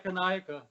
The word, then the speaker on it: Ekanayaka: Yeah, Ekanayaka, which is basically pronouncing every syllable and every letter.